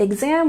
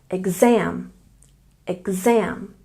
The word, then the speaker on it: exam: And exam, we stress the second syllable. Exam, exam.